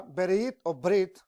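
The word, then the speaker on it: ברית: es una palabra hebrea brit brit así prácticamente no se pronuncia como perito sino como bridge qué significa alianza un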